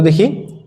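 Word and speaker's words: the: কাউ তাহলে এই ওয়ার্ডটার first letter কি বলতো দেখি কনসোনেন্ট দ্বারা তৈরি এখন আমরা বলছি কি যদি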